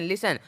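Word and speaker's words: listen: तो यहां पे भी टी का कोई भी उच्चारण नहीं निकला है एल आ एस टी एन लिसन लिसन आप भी लिसन करो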